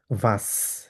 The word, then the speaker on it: was: ভাস, এভাবে উচ্চারণ করবো, ভাস।